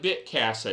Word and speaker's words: Bitcasa: and the idea of bitcasa is or bitcasta but now you want to pronounce it as the name implies casa is spanish for house bit so you got